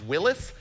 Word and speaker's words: Willys: John North Willys was the guy, and properly it's pronounced Willis, but no one says that, so stop telling me that. It's a Willys.